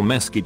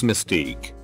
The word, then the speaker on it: mesquite: ham honey baked or mesquite ham he looked at me and said it's not mesquite its mystique I pointed at the